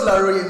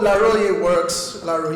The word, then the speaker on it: Laroye: I don't mind how you pronounce it, just make sure it's 3 syllables and not 2. So Laroye works, don't say Laroy, please. Make it 3 syllables, all right?